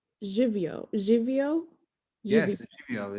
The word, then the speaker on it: živijo: I'm sure I'm not pronouncing it 100% correct, but it is hello, and it's živijo.